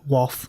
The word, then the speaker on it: Wath: So think Bath and Bath, but Wath. Or if you're from down south, you say Wath.